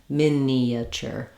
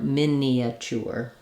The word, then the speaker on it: miniature: the three- syllable version if you want to use four syllables think of it as you just naturally have that gliding Y sound as you move from the front e to the back uh sound or Central uh sound Minature or Minature um